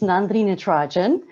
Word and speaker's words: Nandini Natarajan: good morning everybody um for those of you who don't know how to say my name it's nandrina trajan um and as kylie